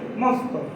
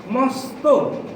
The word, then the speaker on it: মস্ত: পরে যে শব্দটি রয়েছে আমরা যদি বানানের মতো উচ্চারণ করি তাহলে হবে যে মস্ত, কিন্তু আমরা এটা মস্ত উচ্চারণ করব না। আমরা লেখার সময় যদি মস্ত লিখি, আমরা বলার সময় বলবো মস্ত। মস্ত বলবো। আশা করি বুঝতে পেরেছেন।